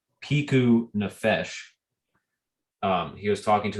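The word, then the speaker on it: פיקוח נפש: i think forgive me if i'm wrong it's piku nafesh um he was talking to his wife after he had said i'm i'm sorry i lied we can what about piku nafesh and that is how it's pronounced um and he says right after it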